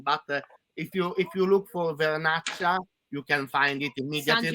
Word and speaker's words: Vernaccia: How do we get is it Verchata? How do you say the wine? Verchata wine? This kind of wine is this one Vernaccia.